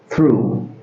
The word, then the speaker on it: through: Le 3è mot qui se prononce through. through répétez ici aussi ça se dit through.